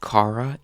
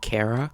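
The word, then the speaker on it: Kara: We then get confirmation that her name will be pronounced Cara instead of Carara.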